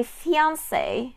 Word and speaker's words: fiancé: And yes, you put the accent on the E. My fiancé is the person you're going to get married to, but you're not married yet.